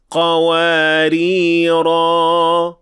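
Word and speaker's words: قَوَارِيرَا: So if we stopped at these 2 words, we will pronounce the alif in the first, but not in the second. وَأَكْوَابٍ كَانَتْ قَوَارِيرَ قَوَارِيرَ.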